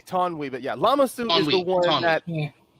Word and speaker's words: Lama Su: In the movie, they say Tonwi, but yeah, Lama Su is the one that. Yeah. No worries, yeah. The way even when I read that and I saw it pronounced, I'm like, wait, is the U silent?